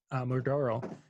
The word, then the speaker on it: Muraro: Digital media, Muraro, would be how it's pronounced.